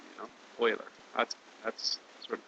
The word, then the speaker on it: Euler: it's it's not oer uler it's more like Oiler like the hockey team you know Oiler that's that's sort of